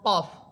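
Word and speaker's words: ك: আর কাফ এটা জিহ্বার গোড়া থেকে একটু উপরের দিকে এসে উপরের তালুর সাথে লাগবে।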